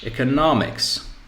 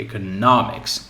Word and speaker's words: economics: So I divide into syllables. Eco, no, mix. So mix is the end. Okay, so what do I take? I take what's before it. I take the stress in here.